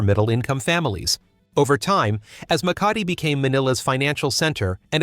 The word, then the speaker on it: Makati: In Makati, an area often pronounced by tourists as Marti, modern high-rise buildings stand densely packed together, boasting sophisticated designs and luxurious facades.